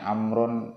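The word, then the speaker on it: عمرو: An Bashir bin Muslim an Abdullah ibni Amrin qala. Jadi kalau ada wawunya itu bacanya Amrun, Amron, Amrin. Kalau tidak ada wawunya Umaru, Umara, Umaro.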